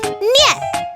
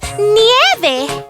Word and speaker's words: nieve: Niet. No! It's nieve. Nieve.